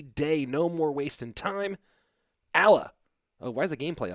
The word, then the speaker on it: Alaa: But he did say to pronounce it's Al as in Alabama and then as in like So Alaa, if you want to really hit the bottom half of it.